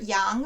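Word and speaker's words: 洋: for moth and wasp the character yang for ocean also has a component that gives a very strong hint as to its pronunciation because there are quite a few other characters that have that same right hand component and are pronounced the same or similarly so on its own that component is itself actually a radical that means sheep and is pronounced exactly the same as young ocean it's young sheep or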